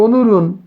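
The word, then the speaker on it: 오늘은: অনুল উন উচ্চারণ হবে অনুরুণ, মূল শব্দ হলো অনুল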